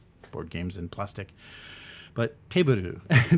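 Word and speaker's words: Teburu: games and plastic but taboo table the weird kind of katakana pronunciation of table so this is an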